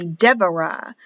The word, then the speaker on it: Deborah: V, pronounced V with no dot, but written as a B, like Deborah is written with a B, but in Hebrew it will be Deborah. Deborah with a V.